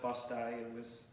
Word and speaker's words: Busti: Yes, it's pronounced Busti. The pronunciation was changed over time, but it's Paolo Busti, but Busti Ave.